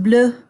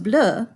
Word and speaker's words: bleu: So it's still pronounced bleu, but it has an extra E on the end. If it's plural, it's still pronounced bleu because most final consonants are not pronounced in French.